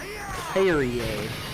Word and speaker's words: Kyrie: I would say Kiri. So in the game they say it Kyrie. Kyrie, Sure.